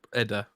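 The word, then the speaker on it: Edda: I'm doing I'm doing the poetic edas R Eda I pronounced that wrong poetic Eda you know what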